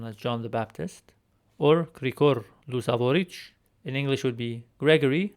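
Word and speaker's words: Գրիգոր Լուսավորիչ: But for this video, I will use the three-letter combination of tch to show the sound of this Armenian letter.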